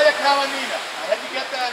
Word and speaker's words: Kalinina: Kalinina. I had to get that out. That's how you pronounce her name.